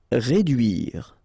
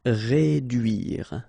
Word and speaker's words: réduire: Réduire. Okay, try to insist on this U here because it can be quite tricky. Réduire. Réduire.